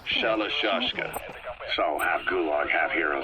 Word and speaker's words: Shalashashka: By the time I got to hearing about it, pronunciation had wound up as Shalashashka.